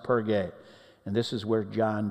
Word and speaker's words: Perge: The group leaves Cyprus and sails to the mainland of Asia Minor, Turkey, and to the city of Perge, pronounced Perge.